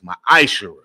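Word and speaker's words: מעשר: You can find this in Numbers 18:21, Malachi 3:8-10, means 10th in the Hebrew, and it's pronounced ma'ashera.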